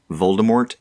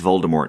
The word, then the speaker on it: Voldemort: be pronounced yes exactly with the silent T because it's French and we'll get to